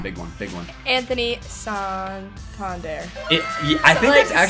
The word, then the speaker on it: Santander: Anthony Santander.